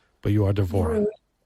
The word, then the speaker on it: Devorah: Devorah is a professional artist of over 30